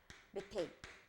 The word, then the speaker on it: 메테인: 메테인. 이렇게 해주시면 돼요. 됐죠? 자, 그럼 첫 번째 CH4가 나왔어요. 우리가 뭐라고 읽어주면 된다? 메테인이라고 읽어주시면 돼요.